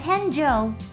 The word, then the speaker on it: 変生: Hensei means to be reborn. There is a similar term in Japan's traditional religion Buddhism, where it's pronounced slightly differently as Henjo.